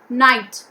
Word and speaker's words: knight: silent knees okay knees knight g h is silent here knight we say t